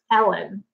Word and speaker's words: Ellen: my name is Ellen, and if you pronounce it like a letter L and a letter N. It's Ellen, like 2 letters.